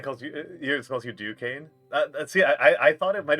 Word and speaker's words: Duquesne: Yours calls you Duquesne. See, I thought it might have been that too. It might have been a like silent S situation. like a bit of a French pronunciation. Duquesne.